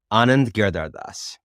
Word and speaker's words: Anand Giridharadas: Well, how would you pronounce the name? Go ahead. Anand Giridharadas.